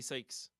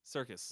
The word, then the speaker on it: Serkis: Oh, I said Andy Sykes. Seeks? Andy Serkis. Circus. Yeah. Circus? Is that how you say it? Yeah.